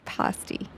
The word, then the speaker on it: pasty: Of course, it's the Cornish pasty.